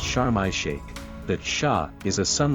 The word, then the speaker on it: Sharm El Sheikh: Often abbreviated to sharm in Arabic, it's pronounced chararma shake.